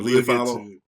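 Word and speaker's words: Ula Fala: How do we pronounce it? The Ulafalla.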